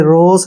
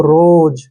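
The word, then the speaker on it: rose: ही पढ़ना है और एस का उच्चारण यहां पर ज होगा ठीक है ना एस नहीं पढ़ना आपने रोस नहीं पढ़ना है इसको रोज और ई का उच्चारण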